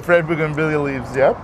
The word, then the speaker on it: bougainvillea: That's a bougainvillea, fresh bougainvillea leaves, yep.